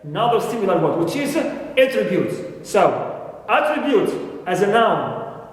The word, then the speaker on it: attribute: with a flower and the first syllable is stress here attribute as a noun clear first syllable is stress and start with a flow now I have also